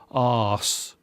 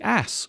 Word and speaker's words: arse: tame is ass or as we pronounce it here in England arse the ass or arse is another